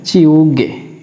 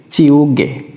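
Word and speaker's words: 지우개: এখানে জিউতের উচ্চারণটা হবে চর মতো, তার মানে চি, এরপর আছে ইউং উ, গিয়কের উচ্চারণ হবে গয় গয় যুক্ত একার, তার মানে হচ্ছে এখানে চিউগে, চিউগে, চিউগে।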